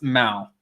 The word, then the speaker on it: Mal: a check cynthia's sister mel has been around well it's mal i keep saying it like the way i pronounce it is like mel it's mao mao cynthia's sister mal she's